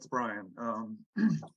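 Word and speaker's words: Brien: It's not, it's spelled B-R-I-E-N. Yeah, it's Brian.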